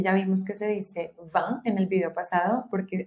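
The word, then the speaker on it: vingt: El 20 ya vimos que se dice va en el video pasado porque aquí tenemos una nasal. Va, va. Como una A, así. Va. La G y la T no se pronuncian.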